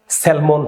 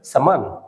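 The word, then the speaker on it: salmon: এই যে এটা এটা একটু মাথায় রাখতে হবে প্রত্যেকটা উচ্চারণ আমি আপনাকে গিফট হিসেবে দিচ্ছি সেলমন ফিশ আমরা সবাই বলি ইভেন অনেকে ভিডিও বানিয়েছে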